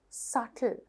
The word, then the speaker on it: subtle: බලන්න silent letter B තියෙන ඒවා. Det, doubt, subtle. මේ හැම තැනකම මට මාක් කරන්න දෙයක් නෑ. පුතාලට පේනවා red letter එක මොකක්ද? silent letter එක. එතකොට මෙතන det කිව්වම ණය, doubt කිව්වම සැකය, subtle කිව්වම බොහොම සියුම්ව කියන එක. එතකොට මේ හැම තැනකදීම b කියලා තිබුණාට book, bag වගේ b sound එකක්, baby වගේ b sound එකක් එන්නේ නැහැ.